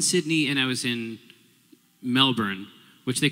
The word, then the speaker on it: Melbourne: talking and you're saying Melbourne. You're about to get off the plane. I'm going to warn you. You have to say Melbourne. That's not how it's pronounced.